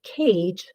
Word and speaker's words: cage: Note that words that end with J, like cage, do not have a sound after because the silent E is what makes the G say J.